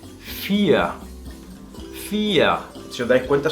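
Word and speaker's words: vier: Por ejemplo, el número 4, volvemos al número 4, que se pronuncia con una F al principio por la V, pero al final de palabra se va a pronunciar como una A prácticamente, que sonaría FIA.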